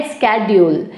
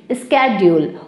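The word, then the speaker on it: schedule: इसको American English में बोला जाता है स्केड्यूल, स्केड्यूल, और ब्रिटिश इंग्लिश में कहा जाता है शेड्यूल, शेड्यूल.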